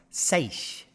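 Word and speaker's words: seiche: witnessed a small scale Siege pronounced Sage so we learned something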